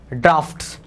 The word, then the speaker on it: draughts: देखो इसकी स्पेलिंग देख लेना, एक होता है DROUGHT, एक होता है डॉट जिसको बोलते हैं सूखा या अकाल, है ना, और ये DRAUGHTS, ड्राफ्ट्स।